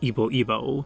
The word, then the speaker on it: YBO2: name YBO2, or squared, pronounced as Ibo Ibo, one of the typical groups of the Japanese underground that was experimenting with how inaccessible prog-rock could be.